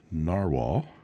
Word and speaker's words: Nahvalur: And this is the Narwhal, spelled just the way it sounds, Nahvalur, pronounced Narwhal, Nautilus, Christmas.